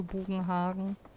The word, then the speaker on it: Bugenhagen: oder Orte immer falsch für mich ist es halt bugen Hagen mit Betonung auf dem a und die machen hier halt Bugenhagen draus was für mich falsch klingt so in meinem